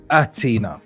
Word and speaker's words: H'Atina: It simply says, it's spelled out for you, and it says H'Atina. Yeah, the H is silent.